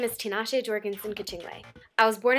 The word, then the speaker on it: Tinashe: My name is pronounced Tinashe, not Tinashe.